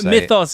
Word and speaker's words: Mythos: and he wrote some myos Mythos I remember you got told off on a comment you Mythos is the is the real pronunciation yeah the myos of